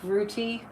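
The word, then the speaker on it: Rutte: by all of Trump's lies NATO and Mark routy that's how you say his name of NATO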